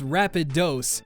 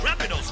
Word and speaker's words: Rapidash: An early version of Tuesday's rap is here, where Floyd pronounces Rapidash as Rapidose. Honestly, it was worth the re-record just for how he said Snorlax in the final mix. Geodude, Rapidash, Magneton, Snorlax.